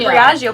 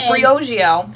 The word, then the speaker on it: Briogeo: We said Briogeo, but no, it's Briogeo.